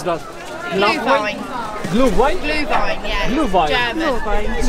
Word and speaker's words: Glühwein: How to pronounce that? Glühwein.